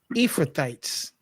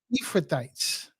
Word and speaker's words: Ephrathites: Have anybody ever heard, and I don't know if I'm saying it right or not, but have anybody ever heard of the Ephrathites?